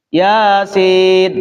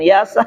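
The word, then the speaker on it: يس: ustaz bukan alama bacanya atau seperti Yasin kita baca ya yasa kan begitu karena harakatnya di atas semuanya yasa kita baca yasa kata Pak Ustaz bukan yasa yasin kata kita tadi baca yasa dapat pahala dapat pahala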